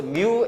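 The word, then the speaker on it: μ: 접촉면의 거칠기와 무게 그래서 뮤 n이라고 그래 뮤 n 뮤 뮤라 읽어 뮤 뮤뮤뮤라고 읽어 뮤라고 읽어 뮤 뮤 그지 접촉면의 거칠기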